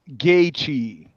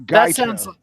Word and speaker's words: Gaethje: Tell Nate it's pronounced Gaethje. Gaethje. Not Gaethje. That sounds like a slur.